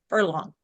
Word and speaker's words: Furlong: So I have Hilary Camino and I have Beth Furlong. Furlong.